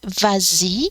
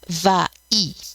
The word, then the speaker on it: vas-y: Well, here it's only because of the liaison, because it's easier to say vas-y than va-y.